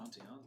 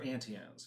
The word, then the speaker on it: Auntie Anne's: Oh, well, it depends on your pronunciation. Auntie. If you're from the South, it's Auntie. Auntie. There it Auntie is. Anne's. Auntie Anne. If you're from the south, it's Auntie Anne. If you're from up north, it's Auntie Anne.